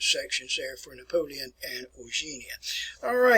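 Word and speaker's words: Eugénie: The name is pronounced Eugenia. It looks like it's Eugenia, but it's Eugenia.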